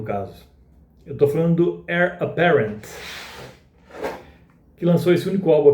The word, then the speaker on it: Eire Apparent: Então a origem do Heir Apparent é Heir Aparente, que escreve-se, mas a pronúncia britânica ao menos é Heir Apparent.